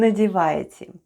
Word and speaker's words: НАДЕВАЕТЕ: ВЫ НАДЕВАЕТЕ /vêê nadyevayetye/ where ВЫ is "you" and НАДЕВАЕТЕ /nadyevayetye/ is "are putting on" and all together it's is ВЫ НАДЕВАЕТЕ.